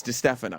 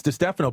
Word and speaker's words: DiStefano: It's spelled like Di Stefano, but it's Di Stefano. No, but it's Di Stefano, but it said Di Stefano.